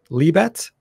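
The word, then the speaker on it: Libet: which is uh benjamin i think it's pronounced liebet is that correct that's it yeah limits okay now i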